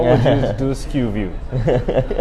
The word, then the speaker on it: SKUview: It sounds like a big name, but how would you do SKUview? How do you spell that?